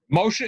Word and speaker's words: Moshe: Moshe is the way they say it in Hebrew.